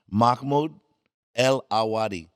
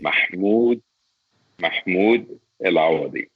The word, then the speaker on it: Mahmoud Elwadi: Mahmoud El Awadi. You want to say it for us? Say your name correctly. Mahmoud El Awadi.